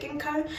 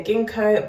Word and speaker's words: Ginkgo: cherry, you've got Ginkgo biloba, I think I'm pronouncing it right, is it Ginkgo? Yeah, Ginkgo biloba, you've got green tea, you've got fig, and you've got Quince.